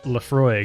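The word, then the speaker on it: Laphroaig: Johnston and Co Lefroy is of I Lefroy pronounced Lefroy is an all malt scotch whiskey from the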